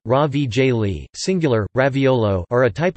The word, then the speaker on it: ravioli: Ravioli, Italian pronunciation, ravigli, singular, raviolo, are a type of dumpling composed of a filling sealed between two layers of thin pasta dough.